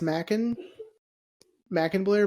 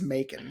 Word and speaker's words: Macon Blair: You said his name is pronounced as Macon Blair, That's how I've not heard it. Macon Blair. I've read it as Mackin Blair, but every time I hear someone say it,